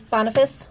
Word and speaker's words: Boniface: And All Martyrs' Day, which was established by Pope Boniface IV. Is that how you say that, Anita? Boniface. Yes.